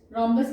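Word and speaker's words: rhombus: रोम्बस की spelling देखिए, इट इज गॉट H also, है ना, एच साइलेंट होता है।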